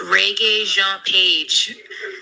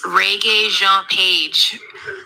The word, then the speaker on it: Rege-Jean Page: Roxy, it's Rege-Jean Page. Just so she knows. I want to help her out. Okay, I gotta listen again. Roxy, it's Rege-Jean Page.